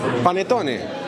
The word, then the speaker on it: Panettone: Panettone.